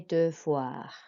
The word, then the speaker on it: devoir: And then devoir, so the E is quite a deep E sound. But for VOI, that makes a voix sound.